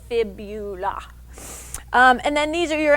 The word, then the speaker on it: fibula: is called the fibula please don't call it the phibia to rhyme with the tibia your shin bone is the tibia the little bone on the outside of your lower leg is the fibula and then these are